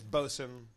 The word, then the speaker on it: boatswain: Like boatswain is bosun.